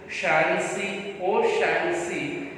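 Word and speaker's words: O'Shaughnessy: Shancy, though the spelling looks very difficult, Shancy is the pronunciation.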